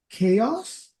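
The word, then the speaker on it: Kaos: time of this recording, a new show called Chaos. But it's spelled with a K, and there's a reason for it.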